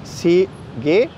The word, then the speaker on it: sige: than the first syllable the G is pronounced like the G and go followed by a short